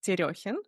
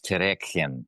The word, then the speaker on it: Terekhin: Today, I'm talking with Eugene Terekhin, and the way I pronounce the name is because the name is Russian, and I am also from Russia. That's why it sounded probably a little bit weird. It's so good to hear it pronounced correctly, because nobody pronounces it correctly here in the States. So how do you pronounce it? Well, when people read it in the States, they read it as Terekhin.